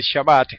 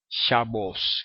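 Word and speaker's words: שבת: y no como a Así que en vez decir shabat dicen shabos con o Y en vez de pronunciar la t final Como hacen los sefarditas que pronuncian shabat los asitas dicen shabos y pronunci la t final como una s Eh entonces fíjense que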